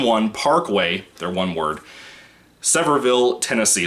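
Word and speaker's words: Sevierville: people six one one parkway their one word severville tennessee semperville is spelled s-e-v-i-e-r-v-i-l-l-e tennessee like i said in the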